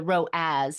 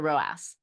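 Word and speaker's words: ROAS: part of this and the row as not the not the RASS yeah Rass is a bit cheeky um and that's the way I remember it it's spelled r o a SS so Rass not row as so I'm going to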